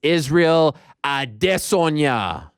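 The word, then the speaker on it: Adesanya: on this show is so i can say his name the way it's supposed to be said and that's israel adesonya and if that bothers you get used to it because that's the way i'm saying it a disonya yeah it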